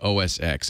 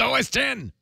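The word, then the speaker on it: OS X: reader in the book keeps calling it OSX and it's driving me crazy it's os10 he gets almost everything else right but he mispronounces OS 10 I don't know why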